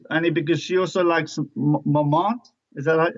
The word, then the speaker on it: Montmartre: I don't know about Elise, Annie, because she also likes Montmartre. Is that how do you say this in Paris? Montmartre, yeah, the wines from Montmartre.